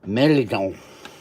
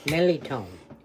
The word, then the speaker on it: mirliton: Some people say Mirliton, some people say Mirliton. Mirliton. Mirliton. Say it. Mirliton. Mirliton. Mirliton. Ça, c'est bon. Mirliton. That's how you pronounce it.